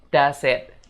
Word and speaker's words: does it: Jadi kata does it itu kita sambung ya, jadinya does it, gitu guys.